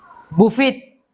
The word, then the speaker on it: buffet: Buffet. Ha? Buffet. Huwag mong ano. Di ba kahapon si Marlene ganito rin? Opo. Wala yung T, silent T yan, hindi kasama.